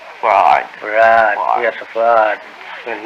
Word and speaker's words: Fard: Farad, F-A-R-D, F-A-R-D. Fard. Muhammad. Mr. Yes. Fard, did you say? Well, that would be the F-A-R-D? pronunciation in English, but we in the Arabic yes, it's Farad. Fard. Farad, Farad.